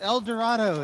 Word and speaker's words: El Dorado: pronounce that word correctly the whole world knows it's El Dorado it's a Spanish word and southern belle says